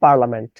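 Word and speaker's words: parliament: দেখেন আমি কি বললাম, আমি বললাম পার লিয়া মেন্ট। দেখেন, এই যে তথ্যটা, এই তথ্যটার উচ্চারণ কি পার্লিয়ামেন্ট? এই তথ্যটার অ্যাপ্রোপ্রিয়েট উচ্চারণ কিন্তু পার্লামেন্ট, কিন্তু আমি এখানে কি বললাম?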